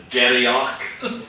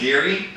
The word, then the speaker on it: Garioch: Glengarry, because first of all, no one can pronounce it, because it's spelled Garioch, so it's Garioch, or Girach, or whatever, but it's Geary.